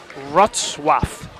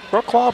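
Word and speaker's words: Wrocław: But it's Rwath. Looks like Brook Claw. Brook Claw, but it's not how you say it. I know that much.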